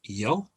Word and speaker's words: yo: them so i is yo or joe often pronounced joe in different parts of spain and throughout latin america pretty much uh u